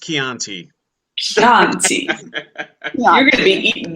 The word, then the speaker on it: Chianti: It's pronounced Chianti. Chianti.